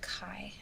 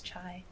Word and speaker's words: chai: And she was like, "It's pronounced Kai, actually." And I was like, "What? Really? I've been saying chai my whole life. I'm pretty sure it's chai." And then I pulled up my phone, typed into Google, how to pronounce chai. It It showed chai. I showed it to her. I was like, "Oh, look. No se it says chai."